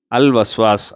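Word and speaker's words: الْوَسْوَاسِ: அடுத்தது வஸ்வாஸ் வாவ் அல் வஸ்வாஸ் அல் வஸ்வாஸ் இல் ஹன்னாஸ். பாருங்க, வாவில் சேர்றதுக்கு முன்னாடி லாமில் சேர்ந்துட்டு தான் அது வெளிப்படும். அடுத்தது அல் யத்தீம், எது உல்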